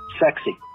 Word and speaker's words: CEXC: combined explosives exploitation cell so the initials were cexc pronounced sexy of course if you